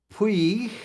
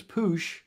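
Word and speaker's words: Puig: the youth and the P it's not P it's poo poo women's America's Cup events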